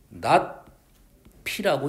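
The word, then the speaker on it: ~p: p라고 하면 명제의 부정은 물결 피로 작성을 하고 얘를 읽을 때 낮 피라고 읽습니다 물결 피로 표현하고 얘를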